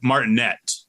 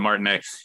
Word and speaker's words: Martinet: he pronounces it Charles martinette has a t at the end but I think he pronounces it Martin he's been the voice